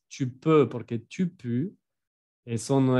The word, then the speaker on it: tu peux: Y no vayan a pronunciar tu peux, ¿eh? Que muchos dicen U al lugar de E, pero es tu peux, porque tu peux, eso no es puedes, es apestas.